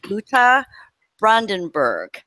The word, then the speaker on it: Ute Brandenburg: new writer and let me know if I'm pronouncing this right wrong it's Lucca Brandenburg so welcome to the show thank you and